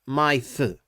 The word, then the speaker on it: My-Th: So, technically you would probably say Kamen Rider Mythe or mythe. Well, when you say it like that, mythe, then you get closer to the Japanese pronunciation of Mythe.